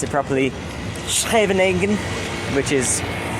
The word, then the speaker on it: Scheveningen: a place called, I'm going to try and pronounce it properly, Scheveningen, which is like 10 minutes up the road from Den Haag.